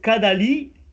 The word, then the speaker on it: Cadali: Quand on a par exemple donc Kadali avec cet accent sur le i, en fait c'est Kadalina et c'est on dira comme un diminutif.